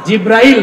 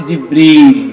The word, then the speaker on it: জিবরীল: সেই ফেরেশতার নাম কি জিব্রাইল না জিবরীল একটু সঠিক প্রোনাউন্সিয়েশনটা আপনারা শিখে যান ওই ফেরেশতার নাম হচ্ছে জিবরীল ফেরেশতার নামটা কি আল্লাহ